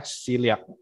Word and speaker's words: celiac: Nah, kecuali hanya bagi penderita penyakit celiac, ya ini bacanya celiac, yaitu alergi gandum.